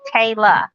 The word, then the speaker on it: Tayla: and bobby it's it's it's pronounced like kayla but it's with the t so it's tayla it's spelt t-a-l-a she's